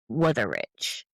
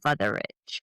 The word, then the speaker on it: Wutherich: his name was Gottlieb Wutherich, but it's a German W, so maybe he pronounced it Wutherich. So Wutherich, he slept in a room next to the temple.